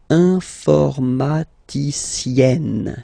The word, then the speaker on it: informaticienne: Okay, and you get the sound informaticienne, sienne. Remember, E and then double N, or then it could be double L or double consonant here. You open your E, so it's E, informaticienne.